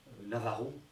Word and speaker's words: Navajo: La réserve Hopi, c'est une enclave dans le pays Navajo, dans la nation Navajo, Navarro, je prononce à la française.